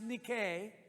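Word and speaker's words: Νίκη: That is a Greek word. It's actually pronounced Nike.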